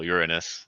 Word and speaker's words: Uranus: well thank you also for for saying for pronouncing it correctly so uranus um but it's still better than uh the